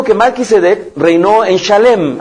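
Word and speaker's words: שלם: marqu yedek reinó en shalem así se pronuncia en hebreo shalem Shin lamet y mem palabra cuya raíz comparte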